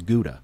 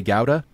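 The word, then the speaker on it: Gouda: so much is because there is a town called guda and that's how we in North America and a lot of places in the world say it is guda when I say talk about guda cheese in the UK I think they say GA and in the Netherlands it's how right so it's so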